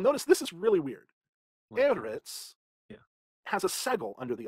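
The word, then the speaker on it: אֶרֶץ: It's not eretz, it's eretz.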